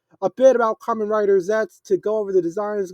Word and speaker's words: Zeztz: Reading Common Rider Zets, okay, that's what it's pronounced, is an upcoming Japanese Tokosachu drama in toy company's Common Rider series.